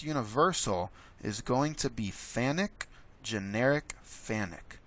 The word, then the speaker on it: FANUC: is going to be fanuc generic fanuc it's spelled like phonic they've told me it's pronounced fanuc that rhymes with panic but don't panic we're